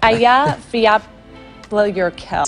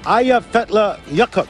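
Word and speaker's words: Eyjafjallajökull: It's Aya Fiapla Yurkel. EF Yar Cool. Aya Fetla Yakut. Am I pronouncing that correctly?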